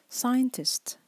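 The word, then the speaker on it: scientist: كمان ستات يو ستاتيو ساينتست ساينتست نلاحظ ان هنا السي اس بنطقها كانها وحده واحده او صوت واحد كانها اس اس واحده بس لكن هي طبعا بتكتب سي اس ساين تست ساينتست علشان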